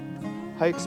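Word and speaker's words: Haix: are these are the hikes like I said it it is pronounced hikes but it's spelled h-a-i-x right there is the logo if you guys can see that and these are size 12.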